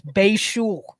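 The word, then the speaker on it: Bhayshul: Here's how you pronounce his name. It's Bashul. Bashul.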